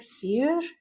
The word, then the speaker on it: Saor: It came from the Scottish Gaelic word for free, which is spelled Saor. It's pronounced like seer. I don't have the twang for that, but because my heritage comes from is Scottish, so I loved that it was a word that meant free. So I added the e and I Americanized how you pronounce it to change it How up.